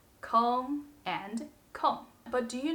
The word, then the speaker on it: 空: If we want to say a space is empty, we say kōng. For example, 这个教室是空的。这个教室是空的。Or 我的心空空的。我的心空空的。When we want to say something is not occupied or not be used, it is pronounced the fourth tone, 空。For example, 那台电脑空着呢，我们可以用。那台电脑空着呢，我们可以用。Or 你什么时候有空？你什么时候有空？